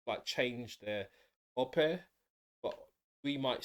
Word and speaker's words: Ope: Ope but we might say in England Opie or something, but that's incorrect apparently. He'll explain why um he says it in that way. But it's Ope rather than Opie.